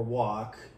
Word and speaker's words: walk: a problem okay so a typical one is talk or or walk right uh that is a single syllable as soon as you